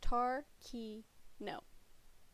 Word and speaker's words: Tarkino: Another key factor is you mispronounce it. It's Tarkino. Tarkino.